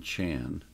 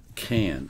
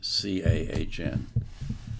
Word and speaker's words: Cahn: His name is Jonathan Chan. I assume that's how it's pronounced. Cahn, excuse me. C-A-H-N. Cahn.